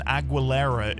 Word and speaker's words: Aguilera: The U after the G in Aguilera is just to keep the G making a G sound rather than an H sound. But the U isn't pronounced.